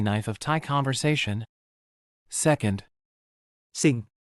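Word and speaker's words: สิ่ง: ส ิ ่ ง Pronounce it like. ส ิ ่ ง Exactly like the English word for singing a song, this is your more sophisticated, formal cousin of.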